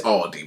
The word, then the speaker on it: Aldi: Put an S at the end, Aldis. I don't know why I don't know why we're like this, bro. That is crazy. A lot of people think the same. It's crazy. Why are we like this? But it's Aldi, bro. In Germany, we just say Aldi.